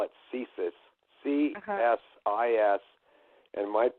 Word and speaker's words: CSIS: the CIA and you you said something about CSIS am i pronouncing that correctly yeah it's the Canadian version